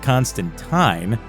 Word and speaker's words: Constantine: The first time the bisexuality of John Constantine, whose name should be pronounced Constantine if you're talking about the comics version.